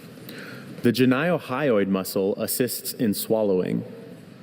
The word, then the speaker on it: geniohyoid: The ganiohyoid muscle assists in swallowing. Can you say it? Janiohyoid. Uh, can you say the alternate pronunciation again? Ganiohyoid. Geneiohyoid.